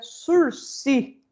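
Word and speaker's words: sursis: No caso do sursi, lembrando, sursi é uma palavra francesa, então a gente pronuncia sursi, sursi, não fala o S.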